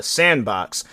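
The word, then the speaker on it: s&box: That's what people have been calling it, but it's a new game called Sandbox. So how they spell it is S, the and emblem or symbol, and then box.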